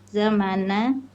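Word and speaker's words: زمان: jaw Jaw zam zamana eh nuzulil wahyi Heeh itu aslinya mananya panjang ya zaman jadi dia ada Alif jadi cara bacanya dipanjangkan mimnya Ya zamana nuzulil wahyi haitu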